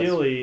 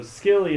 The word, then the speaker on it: Scilly: And when you pronounce it silly, the reason for the silent C is because it's a very hard island to notice.